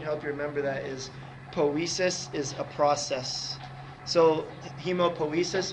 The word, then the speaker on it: poiesis: But make sure that ending, poiesis, rhymes with process, so it's a process.